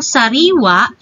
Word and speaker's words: sariwa: ay mga maragsa ngunit yung sariwa siya po ay malumi binibigkas ng malumi sariwa ngunit um kapag ganitong